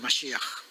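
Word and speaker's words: משיח: La pronunciación, Mashiach, que en español sería el ungido, ¿no?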